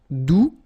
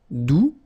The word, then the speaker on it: doux: Doux, you don't pronounce the final X.